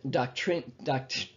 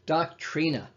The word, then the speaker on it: doctrina: word doctrine it comes from the latin word doctrine i can't even say it right doctrina that's what it is and it means teaching